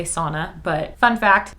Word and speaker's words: sauna: in english we say sauna but fun fact that's a finnish word so if you ever say sauna you should say sauna because that's how it's pronounced if i remember correctly